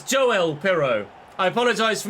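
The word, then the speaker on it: Joël: it's gone in and I was pronouncing it yoel it's not Swedish he's Dutch it's Joel pero I apologize for mispronouncing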